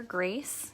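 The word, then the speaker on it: Grayce: we did name her Grace yesterday that spelled GRA Y C II so like the color but we're pronouncing it grace don't be too crazy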